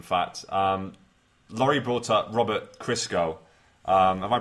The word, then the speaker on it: Christgau: Laurie brought up Robert Christgau. Am I pronouncing that right, Laurie? Yeah, Christgau, I think who is kind of the preeminent